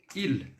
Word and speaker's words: ils: Em francês, il. Eu tenho o S aqui, mas eu não vou pronunciar o S na terceira pessoa do plural.